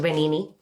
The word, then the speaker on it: Benigni: Is Beautiful by Roberto Benigni. I think that's how you say it, the "g" is silent.